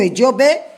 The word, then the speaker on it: Ejiogbe: E quem tem o Odum Ejiogbe, que é pronunciado o Odum Ediobê, então a oferenda a Exu para que esteja bem preparada para alcançar seus objetivos.